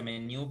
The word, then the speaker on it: Meniw: Ok, O sea, se pronuncia Menu, pero es Meniw.